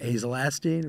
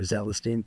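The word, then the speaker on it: azelastine: And the Astapro or Astelin or azolastine or zelastine, 2 ways to pronounce it, is it's an A, it's a double prong.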